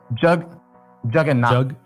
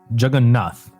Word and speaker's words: Jagannath: Okay, it's like Jagannath. Jagannath. Is that good?